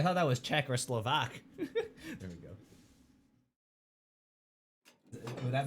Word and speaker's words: Slovak: Oh, gee, I thought that was Czech or Slovak. There we go. Would that make more sense? Not the vak. The stress is on slow in V.